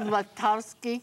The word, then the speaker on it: Latowski: We used to learn how to spell it as a child by saying "let of sky." Let us sky.